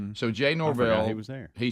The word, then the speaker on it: Norvell: you say the Colorado State's coach's last name Norvell so Jay Norvell he said we had to do a bunch